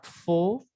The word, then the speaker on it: faux: Ensuite, on a faux, fausse. Ahí también cambia mucho la pronunciación en masculino y femenino.